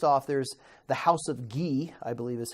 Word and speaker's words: Guise: You'd say the S because there's an E after. Oh, I would say yes. Geese? Geese. Okay, so good.